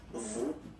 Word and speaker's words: vous: Okay, so remember, even if you get this final S, you don't pronounce it, as it was the case already for this word, nous, you don't pronounce the final S, vous, you don't pronounce it, leur.